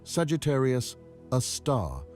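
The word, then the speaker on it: Sagittarius A*: of Mercury we call it Sagittarius a star pronounced Sagittarius a star named after the constellation Sagittarius ious where it appears in our sky.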